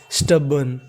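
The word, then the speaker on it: stubborn: इस मीनिंग में हमारा आर साइलेंट रहता है, तो मीनिंग बन गई STUB स्टब, क्या बन गई स्टब, और आर का उच्चारण करना नहीं तो आखिरी में लिख गया N स्टबन, स्टबन।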